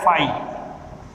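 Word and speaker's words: φ: इसे खाली कोष्ठक या फाई, इसका उच्चारण क्या है, फाई, फाई से प्रदर्शित करते हैं।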